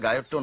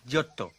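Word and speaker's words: Giotto: ঘোষ দস্তিদা ছাড়ুন, উচ্চারণটা গায়ত্তো নয়। তবে ইংরেজি উচ্চারণটা হলো জিওত্তো, আর ইটালিয়ানে জিওত্তো।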